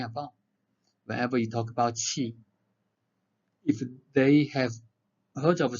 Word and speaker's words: qi: in the oral test, they said QI. I was confused what they were talking about. So you need to pronounce correctly qi.